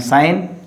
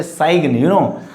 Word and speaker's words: sign: And sign, G is silent. Don't say sign.